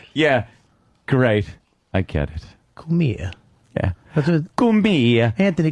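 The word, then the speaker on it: Cumia: It wasn't that. Kamiya. But it's spelled Kamiya. It's Kumia. Kumia. It means But come here in Italian.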